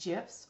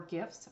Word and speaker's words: GIF: This is on GIFs, or as Dan will tell us, may be pronounced GIFs or GIFs. Both are correct.